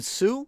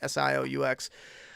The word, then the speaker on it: Sioux: You don't know how to spell it? Oh, you mean Sioux or Iroquois?